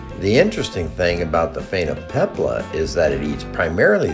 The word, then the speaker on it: Phainopepla: This bird is called a Phainopepla, pronounced Phainopepla.